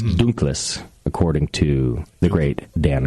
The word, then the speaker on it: Dunkles: By the way, it would actually, if it was German, it wouldn't be Dunkel, it would be Dunkles. There's an S, it's Dunkles, according to the great Dan Gordon.